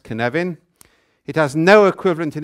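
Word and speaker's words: cynefin: action and that's what can evan is about yeah it's a Welsh word by the way and it's pronounced kin heaven it has no equivalent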